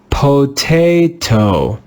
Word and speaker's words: potato: Let's read this word and pronounce that letter A with the sound A. Let's read it together. Potato, potato, potato. Do you hear that the syllable is stressed with the letter A?